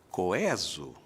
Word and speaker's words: coeso: Mas o povo nunca entrou na onda do coeso e, felizmente, os dicionários se renderam e hoje indicam as duas pronúncias como perfeitamente possíveis, coeso ou coeso.